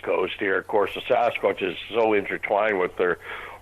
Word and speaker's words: Sasquatch: the hills called the Sasquatch. The best way to pronounce it is take the word bucket, drop the B, and add SAS to the beginning, Sasquatch.